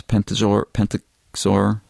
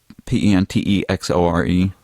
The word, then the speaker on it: Pentexore: But the land, which I'm not sure how to pronounce, Pentexor. Okay. It's Pentexore.